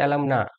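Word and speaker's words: alumna: যেমন অ্যালামনা, এ দিয়ে শেষ হয়েছে, এর উচ্চারণ হচ্ছে অ্যালামনা। এই এ এর উচ্চারণ হলো আ।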